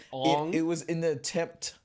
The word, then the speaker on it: Aang: But yeah, Ong. It's just not what we grew. The characters call themselves Ong.